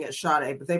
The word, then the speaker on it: Sade: Her name is, they say Sade, but some people pronounce it Sade. I'm pronouncing it Sade, but they pronounced it a different way in the news videos.